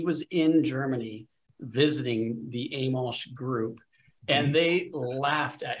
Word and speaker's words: Amolsch: It's Amolsch, but that was very close.